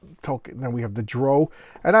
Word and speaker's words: drow: then we have the dro and i don't know how to pronounce it some people correct me and say drow but the dro their